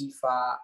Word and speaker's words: Ifa: And underneath that is Equestrian Fitness Academy, which Abriana mentioned, which is branded and acronym is EFA, which is the pronunciation of my name.